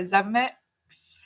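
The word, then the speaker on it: Zemeckis: directors like george lucas steven spielberg and robert zemecks that's how you say it so that was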